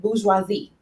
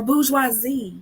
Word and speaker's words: bourgeoisie: Now, listen, I don't speak French, so I'm going to pronounce it wrong because it comes from a French word. But the French word, I believe you pronounce it bourgeoisie.